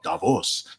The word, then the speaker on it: Davos: Eastern next week I'm live from Davos oh Davos for all those people who want us to pronounce it properly so yes as well yeah